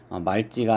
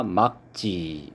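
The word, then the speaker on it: 맑지: 그래서 말지가 아니라 막지 이렇게 발음을 해야 되겠고요.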